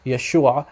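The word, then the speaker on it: ܝܫܘܥ: in some dialects proun Yeshua just like in the Hebrew so the Western dialect of syak the western Aramaic dialect it's pronounced Yeshua very similar actually identical to how it's pronounced in Hebrew okay so what he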